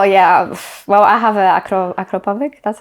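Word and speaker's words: Akrapovič: Oh yeah, well I have a Acropovic, that's how you say it.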